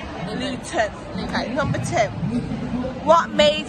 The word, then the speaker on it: Luton: But we don't pronounce our things. Luton.